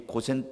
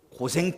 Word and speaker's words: 고센: 따라가 뭐 해 볼까요 고센 땅에 살라 아 네 오늘 설교 듣다가 잊어버려도 제목만 좀 기억하면 생각이다 날 거에요 다시 한번 고센 땅에 살라 아 이거 발음 잘못하면 고생 땅에 살라 이렇게 되어 어 목사님이 우리 보고